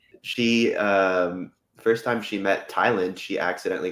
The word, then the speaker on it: Tyland: Yeah, she's like, Tywin? He's like, it's Tyland.